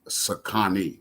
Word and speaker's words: Sakani: The correct pronunciation is Sakani. You know how real name Connie, you just put Sa in front of it, Sakani.